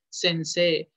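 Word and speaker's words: 先生: Porque se escribe sensei literalmente, pero el, la E y la I suenan, es un alargamiento vocal. Sensei.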